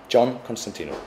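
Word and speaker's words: John Constantinou: Yeah, JohnConstantinou. That's the English version at least.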